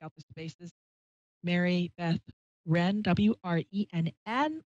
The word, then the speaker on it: Wrenn: It's English W, but the W is silent.